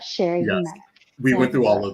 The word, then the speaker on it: Cherie: we've had about okay my name has been pronounced Sheree Sherry but Sherry we went through all